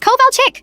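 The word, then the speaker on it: Kovalchik: It's Coal Chick? She shouted, slamming her hand on the desk. K O V A L C H I K.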